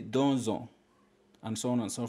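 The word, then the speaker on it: deux ans: you'll find for example do ends with x but because it comes before on which begins the vowel then you say donzo and so on and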